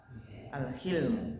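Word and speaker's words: الحلم: Wa ammal hilmu, ya afan bacanya bukan hulum tapi apa? Al-hilmu.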